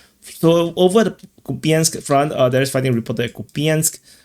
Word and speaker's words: Kupiansk: Someone mentioned that I finally pronounced the SK, I'm just lazy, Kupiansk and Kupiansk, like to English speaking people, there's no difference. But I think to Russians or Ukrainians, there's probably a big difference.